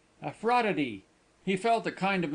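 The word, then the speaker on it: Aphrodite: Appro Aprodite. What a funny name. You haven't pronounced it quite correctly, he said. Out there they sound the ph like a f and give all the syllables. A fraud.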